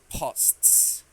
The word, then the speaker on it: posts: great great job and be careful with this one this is hard to pronounce for us posts P great yes STS we don't have that sound in Spanish posts really good job okay